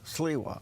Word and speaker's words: Sliwa: Sliwa.